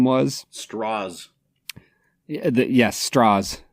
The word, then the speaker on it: Strauss: Straws. The Yes. Straws. Strauss. He keeps correcting them, too. Every time they suggest that it's like a German pronunciation, he's like, "No, no, straws."